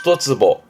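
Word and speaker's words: 一坪: 히토츠 그래서 히토츠보 한 평 우리 말도 한 평이니까 발음은 히토츠보 만약에 두 평 그러면 그렇죠 후다즈예 후다 후다보 후다보 그런 식으로 발음을 합니다.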